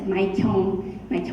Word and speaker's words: Xiong: Some people can't read the Chong when it's written in English, right? So they pronounce it very differently, but it's Xiong, Xiong.